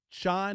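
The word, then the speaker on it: Schoen: this what's his name Joe shine is how you say his name the general manager uh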